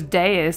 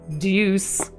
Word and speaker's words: Deus: I wish I realized that that's how you say his name earlier. It sounds so much cooler as Deus than it does as Deuce, like I was saying it.